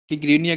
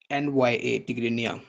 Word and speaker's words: Tigrinya: टिग्रीनिया की स्पेलिंग आप लिख लें, TIGRINYA, टिग्रीनिया।